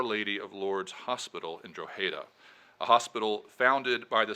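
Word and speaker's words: Drogheda: there's a town of around 40,000 plus called dreda though I think it would take a real Irishman or woman to pronounce that correctly it was a town that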